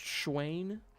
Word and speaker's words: Schwain: Okay, Schwain's the right way to say it.